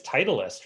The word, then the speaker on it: Titleist: So, I think it's Titleist, right? That is correct.